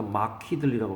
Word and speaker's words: markedly: ed만 있으면 막트인데 ly가 붙으면은 막트 틀리 할 수가 없으니까 막히들리라고 발음합니다.